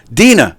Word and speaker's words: Dina: It's just Deanna. Deanna, am I saying it right? Dina.